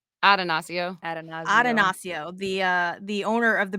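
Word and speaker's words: Attanasio: Atanasio.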